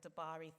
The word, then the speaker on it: Dabiri: So I'm reading from a book by Emma Dabiri. I think that's how you pronounce it. Dabari, thank you.